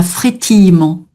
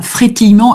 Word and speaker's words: frétillement: J'hésite en fait, frétillement, voilà, frétillement. Le frétillement, un mouvement lent. Pratiquement, oui. Voilà, frétillement avec le E muet au milieu. C'est un E muet.